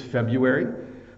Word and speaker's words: February: the trick here is there's two pronunciations for February um you can say the r but almost no one does so you could say